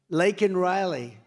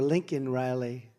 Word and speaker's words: Laken Riley: Laken Riley. And, you know, Biden was unable to pronounce her name, called her Lincoln Riley.